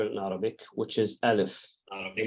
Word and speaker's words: alif: name of the letter Now alif by itself it's actually a silent letter there's no no sound for it unless you put a vowel to it a vowel it's the one that will give it sound now before we go